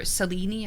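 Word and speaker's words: Selene: I would I would have said Gail, you know, or I would have said for Seleni, I would say Seline.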